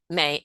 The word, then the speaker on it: Mahy: I'm also on social media through LinkedIn and also through Facebook, and it's May, which is spelled, and then Mahy. The H is silent, but and so that's on Facebook and with LinkedIn, and I'm right?